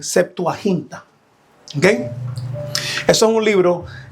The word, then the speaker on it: Septuaginta: la traducción de la Septuaginta. Para aquellos no saben lo que son las Septuagin o Septuagin, su setaquinta o suelta o vamos a pronunciarlo bien, Septuahinta.